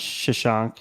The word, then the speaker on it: Shashank: It is pronounced Shashank. Is that right?